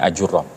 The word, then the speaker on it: Ajurrum: Di sana tuh nggak ada suku yang namanya Ajurum, adanya Ajurom.